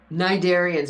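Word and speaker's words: cnidarians: sponges Nigerians or flatworms nigarian and remember in that word the sea is silent narens right right so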